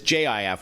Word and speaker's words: Jif: or GIF, and then the other one is JIF, which is really what the product is called, with a soft G.